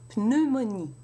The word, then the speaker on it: pneumonie: In French, you have to pronounce the P. Pneumonie.